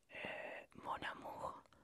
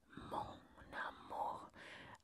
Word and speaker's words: mon amour: Donc, la première, ça serait mon amour. Pronuncia conmigo. Mon amour. Acá la N y la A se van a unir. Entonces vas a decir mon amour como si fuera una palabra sola.